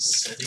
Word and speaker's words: Sedin: Vancouver kaks Henrik sedine it's pronounced sedine s we've got number